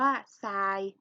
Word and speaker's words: ทราย: เด็ก เห็น ไหม คะ ทร ออก เสียง เป็น ซอโซ่ ตัว อย่าง ต่อ มา